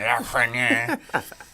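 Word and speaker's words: Lafrenière: He tries to get that little French accent. Lafreniere.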